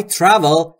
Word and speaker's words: travel: دوستان در مورد تلفظ travel دقت بکنید نگفتم travel یا travel. Travel. Travel. بین تی و آر صدایی وجود نداره. پس ما هم صدای اضافه نمی کنیم.